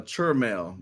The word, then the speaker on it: Chell: pronouncing your name correctly yes it's uh CHL My grandmother used it's like church mail he's always living God